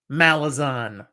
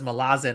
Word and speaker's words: Malazan: one's funny for me malison or Malazan both ways they're pronounced that way I guess the author says Malazan and I just can't get over it so you can start arguing about how to pronounce it but more importantly whether